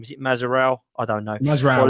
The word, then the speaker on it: Mazraoui: Is it Mazraoui? I don't know. Mazraoui. Or Lamptey. Mazraoui.